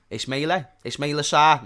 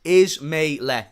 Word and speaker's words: Ismaila Sarr: Ismailia something. Ismaila Sarr. Okay, I think that's how you say it. Thank you. Ismaila.